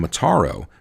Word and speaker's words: Mataró: TTB is more vet and mataró written without the final accent and stressed on the next-to-last and not the last syllable is dying out as